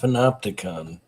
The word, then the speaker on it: panopticon: It's pronounced panopticon.